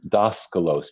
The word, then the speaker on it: Daskalos: They call him Daskalos, Daskalos, which means teacher in Greek. His name, don't ask me to spell it, is Stelianos Atishlos.